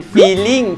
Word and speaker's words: feeling: ทีมงานหัดพูดกันใหญ่เลยนะฮะ please please คำต่อไปครับความรู้สึกของเราครับบางคนนะครับชอบใช้คำนี้มากมันเป็น feeling feeling feel feel feeling feeling so it's longer เสียงมันยาวกว่า Well, a lot of English words that Thais mispronounce, if just relax the mouth and make it longer.